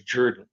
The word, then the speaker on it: Jordan: So to me, saying that Jordan Sloan, which is, by the way, spelled Jordan, but nobody would have pronounced it that way. It was Jordan. So Jordan Sloan looks like a lot of my relatives, you know, pale hair, pale blue eyes.